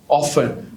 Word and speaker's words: often: Often, not often but often.